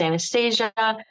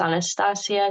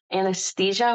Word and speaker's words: Anastasia: Yes, and I always say too, because in English it's Anastasia, in Spanish it's Anastasia. So really, I let people say it however they're comfortable with, as long as they don't call me anesthesia, which is the medicine that puts you to sleep.